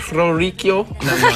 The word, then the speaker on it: Orrico: the pronouncing right there? Yes, yes. Orrico.